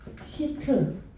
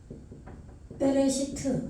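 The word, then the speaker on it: בראשית: 예, 베레시트. 여기는 이제 이거 무음이에요. 알레프는 베레시트 이렇게 되죠.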